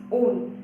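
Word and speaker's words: -one: It is not one, guys. It is not one. It is own.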